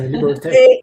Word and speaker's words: Liberté: Yeah, Liberté. It's like liberty, what? So no. So yes, it's more, we focus on the European way, right? So yeah, Liberté, which the reason I started Liberté was it was about freedom.